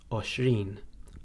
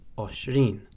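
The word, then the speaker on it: għoxrin: And for number 20, we have oshrin, oshrin.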